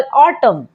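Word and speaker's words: autumn: For example ऑटम, यहाँ पर जो एन है वो एम के बाद आया है तो एम हो जाएगा साइलेंट, तो क्या पढ़ते हैं ऑटम।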